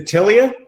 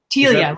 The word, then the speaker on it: Telia: And is it Tilia? Telia, rhymes with Celia.